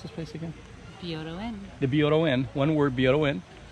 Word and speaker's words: Byodo-In: If you're from, how do you pronounce this place again? Byodo-In.